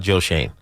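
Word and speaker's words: Schoen: George, you're absolutely right about Joe Shane.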